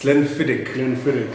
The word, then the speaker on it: Glenfiddich: No, it's a learning point for our listeners, our viewers. It's Glenfiddich. It's Glenfiddich. It's because Glenfiddich. you are Must pronounce it right.